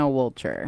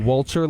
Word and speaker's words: Woltjer: It's Woltjer. Woltjer like a vulture. That's what you like told me. vulture, but with the wool. But with the wool. Yeah, A wool vulture. Yeah, That's Woltjer.